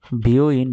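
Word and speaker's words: 病院: জি, your যদি বড় করে থাকতো তাহলে এটা হতো বিউটি পার্লার, কিন্তু দেখেন ইওটা একটু ছোট আছে, একসাথে হবে বিও ইন।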